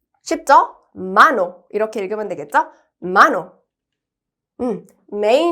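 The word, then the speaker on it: mano: 도전해 볼게요 자 먼저 손이라는 단어입니다 손 쉽죠 마노 이렇게 읽으면 되겠죠 마노음 may no 아이라는 거예요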